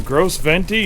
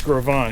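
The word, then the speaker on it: Gros Ventre: so you're staying in Gross venti and he's I said is that how you say it and he said no it's grovan he said that's how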